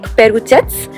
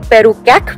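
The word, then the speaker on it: Perućac: For our first stop, we are headed to a place called Lake Perucac. I know a lot of people would actually call it Lake Perucac, but that's not how it is said or pronounced.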